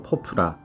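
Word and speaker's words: ポプラ: 자, 우선 10위는 한국인에게는 조금 낯선 편의점일 수도 있겠습니다만 10위는 일본어 발음으로 포프라, 우리말의 포플러가 되겠습니다.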